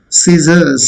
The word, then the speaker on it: scissors: Scissors, scissors. Scissors. R is silent first thing. And C is also silent. Okay. S, I makes C. Sa makes Z. And R is not pronounced again. Last S makes Z. Scissors. Scissors.